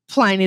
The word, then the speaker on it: Pliny: We're going to call it Pliny the Elder, being that we are Americans, you know, American English. It is a long I with one consonant.